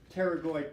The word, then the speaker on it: pterygoid: cranial floor but they're pterygoid plates silent P pterygoid plates or sphenoid so greater